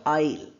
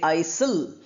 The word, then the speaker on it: isle: When you have some space, that's called isle. We don't say Isil.